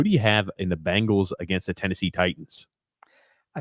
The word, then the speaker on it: Bengals: I mean, regarding the Bengals, Grump, Bengals, not Bangles, Bengals.